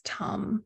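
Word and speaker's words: tam: all forms of Tara the seed syllable is tum so pronounce Tom like with more aspiration these syllables written as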